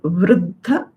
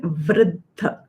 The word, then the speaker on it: वृद्ध: You're saying Vruddha, though that Rukar is acceptable, but its actual pronunciation Vruddha. R and A.